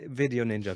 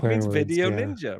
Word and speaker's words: VDO.Ninja: or first of all video Ninja v. ninja is um as you said it's not an acronym it's just the way it's pronounced video Ninja right and it is